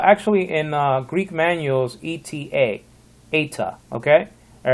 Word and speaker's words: eta: next letter will be eta now it looks like an n but it's not an n though got to make sure that you don't pronounce it no like in nancy